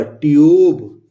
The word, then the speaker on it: tube: तो ये दोस्तों ये कॉन्सोनेंट है और इसके बाद ई आया है तो हम यू प्रोनाउंस करेंगे, तो ये ट हो गया, यू, और ये ब, ट्यूब।